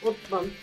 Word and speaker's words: Osman: I mean, the name, I asked the faculty members about the name because the name Osman in English is sort of pronounced as Uthman, is definitely the name of one of the caliphs following Muhammad.